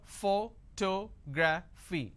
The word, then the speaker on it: photography: do I have here photography four syllables but in this case I stress on the second syllable that is what word